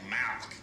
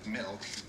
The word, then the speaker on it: milk: No, you're saying it wrong. You're saying Malk, like it's a disease. How do you say it? I'm saying it the way everyone ought to say it. Milk, M-I-L-K.